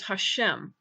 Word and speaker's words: Hashem: that regular words pronunciation the preferred substitute outside of prayer is Hashem which simply means the name now that substitute is